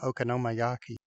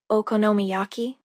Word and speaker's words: okonomiyaki: well not that particular one I'm talking about okoma Yaki that's sounds delicious what is okam yaki I guess I said it wrong don't worry I think I know what you might be thinking of okonomiyaki yeah that's what I'm talking about oh I'm